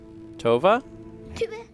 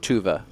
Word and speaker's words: Tuva: my eyes tova also i can hear lars is saying tuva tuvay should probably try and pronounce it that way touve it's hard i